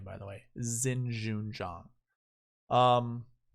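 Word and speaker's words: Xinjun Zhang: carlos ortiz and xinjin zhang that's how you pronounce his name by the way xin zhun zhang um so that would be your top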